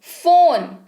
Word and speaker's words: phone: फोन, PHONE, फोन, PH के लिए फ होता है और ओकार की मात्रा लगी तो ये बन गया फोन, हो गया फोन।